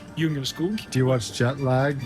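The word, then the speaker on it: Djungelskog: And of course, we can't come into IKEA without finding the iconic jungle skog, whereas it's actually pronounced Jungerskog.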